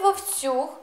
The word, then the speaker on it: вовцюг: вівцюг миттю відпустив вівцю звертаю вашу увагу у слові вовцюг наголос на останній склад це форма до